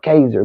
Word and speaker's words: Casar: If y'all, I know it might look like it's not Kaiser, but that's how you pronounce Casar. I think it's supposed to be Caser, but Kaiser.